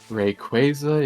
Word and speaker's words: Rayquaza: Rayquaza is the the uh Oakuan company's official pronunciation for it.